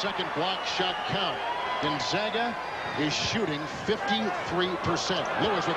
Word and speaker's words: Gonzaga: And it is Gonzaga. Oftentimes they're Gonzaga. We're talking especially about John Stockton, but it is Gonzaga. A little change in the pronunciation.